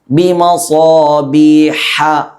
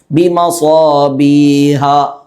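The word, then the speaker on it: بمصابيح: ഈ ശബ്ദം ഇവിടെ പുറപ്പെടണം. ബിമസാബീഹ ഇങ്ങനെ. സാധാരണ ഹ പോലെ ബിമസാബീഹ ഇങ്ങനെ പുറപ്പെടരുത്, തെറ്റാണത്.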